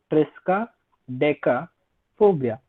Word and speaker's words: triskaidekaphobia: It is not a difficult word to pronounce also. You just speak it the way it is. Triskaidekaphobia.